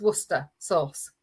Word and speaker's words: Worcestershire sauce: which is slawits and then you've got worcestershire sauce which is worcester sauce yeah how on earth